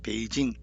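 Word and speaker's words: 北京: 그래서 중국 수도 북경을 북경으로 발음하지 않고 배로 발음을 베이징 대만에서도 타이페이도 대북으로 하지 않고 타이페이기 베이징 타이페이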